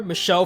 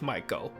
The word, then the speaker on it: Michel: For the purpose of how it's written, I'll be calling her Michelle for this section, even though it's supposed to be pronounced Michael.